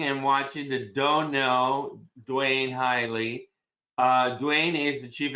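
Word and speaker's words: Duane Highley: have a great guest today his name is dwayne hiley i hope i'm saying that correctly you said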